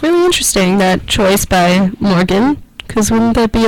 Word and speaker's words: Morgxn: Then you heard Home by Morgan, which is spelled Morgxn, just to shake it up a little bit.